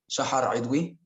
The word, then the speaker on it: Shahadui: so my name is the correct pronunciation is actually shahadui and i'm 23 years